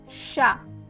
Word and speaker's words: chat: So as you can see, I'm pronouncing the sh when the CH is written, right? Next one is chat.